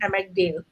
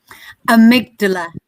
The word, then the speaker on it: amygdala: hey wait a minute remind me how i should be pronouncing a mcdail amygdala thank you amygdala and maria is always